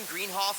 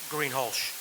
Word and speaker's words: Greenholsch: And the 0F, is it Greenhoff? Is that how you pronounce it? Greenholsch. Greenholsch. Way off.